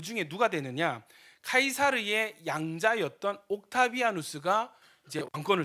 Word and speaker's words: 카이사르: 이제 나타나죠 누굽니까 시입니다 지금 이제 요새 영어발음으로 하면은 카이사르 가이사 성경에는 가이사 시저 율리우스 카이사르 이렇게 이야기를 하는데 카이사르가 언제죽냐 BC 44년에